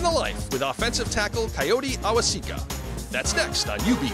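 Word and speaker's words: Kayode: Bulls starting offensive lineman Coyote Awosika's first name is spelled K-A-Y-O-D-E.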